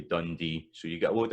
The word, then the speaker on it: Dundee: So a place like Dundee, it's da-da. Some folk will pronounce that Dundee, so that's da-da, da-da, with the stress at the end, but most of the time it'll be Dundee.